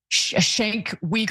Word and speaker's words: Cenk Uygur: If he had grown up watching the Young Turks, he would know how to pronounce Cenk Uygur's name. It's not Cenk Uygur or whatever it is that he said.